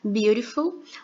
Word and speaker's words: beautiful: falei com vocês né quando tem essa junção de uma consoante da consoante ter mais uma vogal geralmente ele vai se transformar na letra R na letra R por isso nós pronunciamos beautiful mas também pode haver